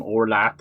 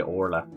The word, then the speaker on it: Orla: Now you you might say her name Orlat as well. That's the very very Irish way of saying it, but most of us say Orla.